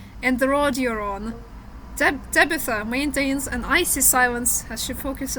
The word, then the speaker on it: Tabitha: Табита, pronunciation. Cambridge Dictionary. Tabitha. Табита. Tabitha.